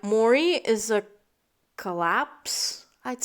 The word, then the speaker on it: Maurie: enjoying them so far uh today's character is mori or yeah yeah that's how you pronounce her name yes you know i'm still